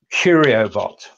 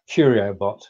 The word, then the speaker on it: Quriobot: Quriobot, and that's I'm pronouncing it like that. Quriobot. Do you think that's fair? Yeah, I think that's a fair pronunciation.